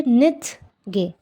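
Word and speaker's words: 늦게: কিন্তু এই যে দেখেন এখানে কিন্তু এই দেওয়াই আছে যে লাস্টে যদি থাকে, লাস্ট কনসোনেন্টে যদি থাকে তাহলে হচ্ছে সেটার উচ্চারণ ঠ হয়ে যায়, ঠ। তো এটা হয়ে যাবে নিথ গে, নিথ গে, নিথ গে, নিথ গে।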